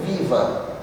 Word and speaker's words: viva: Porque o V em espanhol tem som de B, então eu pronuncio biba, mas eu escrevo viva.